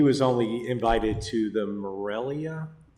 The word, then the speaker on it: Morelia: And he was only invited to the Morelia, did I say it right? Yeah, Morelia. Yeah, Morelia portion of it, not the Jalisco portion of it.